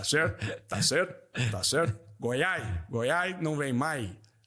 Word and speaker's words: Goiás: Governador Ronaldo Caiado, bandido, bandido não tem vez em Goiás. É o único governador incapaz de pronunciar o nome do próprio estado. Você já viu isso? Não consegue falar o S no final.